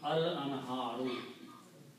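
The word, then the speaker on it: الأنهار: And when you put al, the last letters to them must change into one. So this will become al-anharu.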